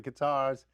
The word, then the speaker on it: Qatar: is in with the Qatars, I think that's how you pronounce it. That's not correct. like a guitar, but Qatar.